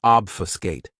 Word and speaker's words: obfuscate: Another great verb, which is one of my favorites, is obfuscate. This verb has 3 syllables, and the stress is on that first syllable. Obfuscate.